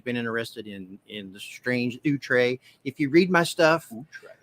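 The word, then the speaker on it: outré: It has the little French thing over the top of it.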